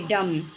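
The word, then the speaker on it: dumb: बच्चों ये B silent है। देखिए डम डाउट जबकि बी है लेकिन बोलना नहीं है।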